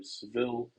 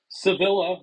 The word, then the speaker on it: Sevilla: of the results from the Sevilla special event, or Seville with the E at the end, as I've seen many players pronounce. But Limitless says Sevilla, so I'm going to go with Sevilla because they obviously Oh,